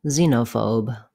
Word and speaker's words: xenophobe: Letter X says z in xylophone and xenophobe.